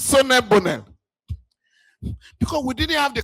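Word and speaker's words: Solel Boneh: In my own part of the country, they call them Shino Bole. Now, actually, we later learned the company was, the name is Sonne Bonel.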